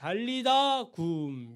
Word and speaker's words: 달리다굼: 그러니까 달리다굼 이게 이제 정확한 발음이죠.